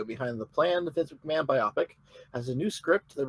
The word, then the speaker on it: biopic: Yeah, it's a biopic. Biopic. It's a biopic. Anyway, Rhymes with my optic, which is then my idea of this entire film project about Vince.